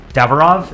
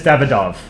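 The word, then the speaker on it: Davydov: you know, the war, Denis Davarov, is that how you pronounce his name? Let me look it up. Denis Davidov.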